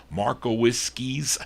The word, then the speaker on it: Markowiski: This is on Stanley Stanley Markowiski's Markowiski's, that's how you say it, Mark label.